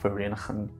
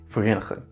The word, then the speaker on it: Vereeniging: It then travels in canals and pipelines to two treatment plants in Vereeniging. If you say it like that, Vereeniging. It's a difficult word to say. Vereeniging.